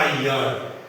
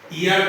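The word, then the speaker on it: year: अब जैसे देखिए, हमने लिखा वाई ई ए आर, इसका उच्चारण हुआ यर, ईयर नहीं यर, यर।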